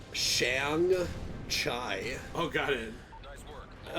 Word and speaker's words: Shang-Chi: I thought it was better than in Shang-Chi. Yeah, me too. Or whatever. Shang-Chi. I hear it pronounced different ways. I pronounce it like Shang-Chai.